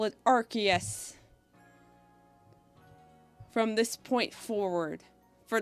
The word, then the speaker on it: Arceus: Okay, so I'll call it Arceus from this point forward for the rest of time. Even though I swear it used to be pronounced Arceus, and I swear I saw it pronounced that